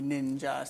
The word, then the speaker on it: Ninjah: And the Ninjah. See, you just spell it N-I-N-J.